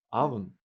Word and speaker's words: oven: только через много лет после того, как я эти слова выучил, я вдруг обнаружил, что в слове «авен» первая буква пишется «оу», но читается как «а».